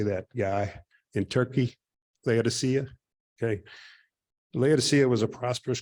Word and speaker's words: Laodicea: In Turkey, Laodicea.